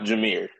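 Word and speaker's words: Jahmyr: name jir but he he pronounced it how Jamar it's pronounced jir pronounced it's jir jir it's jir but he spell it Jamar and like James from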